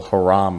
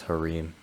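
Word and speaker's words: harem: got like a whole haram of girls honestly all right y'all it's actually pronounced harim i'm really sorry for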